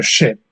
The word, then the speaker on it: scip: The word, the word for ship Yeah. was spelled different. It's spelled SCIP, Right. but it was pronounced ship, Yeah.